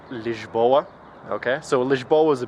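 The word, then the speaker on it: Lisboa: in English in in every other language it's pronounced liboa okay so liboa is a beautiful city uh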